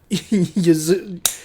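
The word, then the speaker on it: Yuzuriha: And so, what is the first action that Yuzuria?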